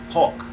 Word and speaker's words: HAWC: The acronyms are for HAWC, Hawk. I guess you could pronounce it Hawk, right?